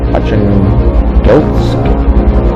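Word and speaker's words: Arkhangelsk: A small enemy force, including one or two of these ships, is expected to sail from Archangelsk, that's how you pronounce it, momentarily for a rendezvous somewhere in the Barents Sea.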